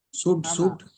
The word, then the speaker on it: suite: சூட்.